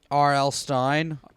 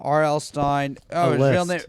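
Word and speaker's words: Stine: gotta keep track um R.L Stein Robert Lawrence Stein but it's spelled s-t-i-n-e so wait sometimes known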